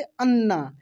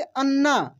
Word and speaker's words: अन्ना: कच्छ ठीक है ना अन्ना अन्ना देखिए कैसे अन्ना अन्ना ऐसे नहीं अन्ना यानी न पे जोड़ देंगे सेम अक्षर अगर जुड़ता